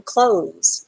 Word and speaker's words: clothes: you really not pronouncing the th in the word when you say it but you have to write it down when you spell it i am wearing clothes you are wearing clothes